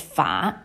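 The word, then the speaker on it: 髮: Hair is fa in Chinese, which sounds like the word for prosper, fa.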